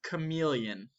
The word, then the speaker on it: chameleon: turn first this is a tricky word it's pronounced chameleon this is a chameleon here chameleons eat bugs